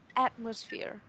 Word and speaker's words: atmosphere: Mình sẽ có từ là atmosphere. Trọng âm nhấn vào âm đầu tiên.